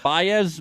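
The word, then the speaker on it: Báez: Is that Baez, Ben?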